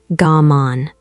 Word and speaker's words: gaman: It is called gaman. Pronounced ga-mon.